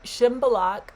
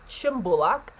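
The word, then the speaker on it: Shymbulak: This update coming at you from Chimbolak Ski Resort, or Chimbulak, as it's pronounced locally here in Kazakhstan, the beautiful nation of Kazakhstan, from the Chimbulak Resort Hotel.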